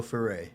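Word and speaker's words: Ferré: Dior Dior is Dior how about Jean Franco fere is F how you say it John Franco fay fay I like this Jude because now you're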